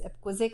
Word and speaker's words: Epquazik: And then another elder in the community says, that's not how you say it, it's Epquazik, so take off that apostrophe.